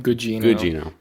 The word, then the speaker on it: Gugino: Did I pronounce it right? Gugino.